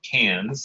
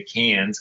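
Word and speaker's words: Cairns: that's Cannes it looks like cards but it's pronounced Cannes so if you want to blend in you say Cannes because that's how they talk about it down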